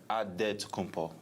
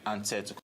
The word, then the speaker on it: Antetokounmpo: And Nigerian way, you gotta say with a D, so it's Adetokounmpo. But in the Greek way, you say with the NT, like Antetokounmpo.